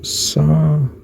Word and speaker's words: Sabaoth: And it says, yes, you're likely thinking of the name Sabayotth, pronounced Sabayotth. Sabayotth. I'd have said Sabayoth, but okay.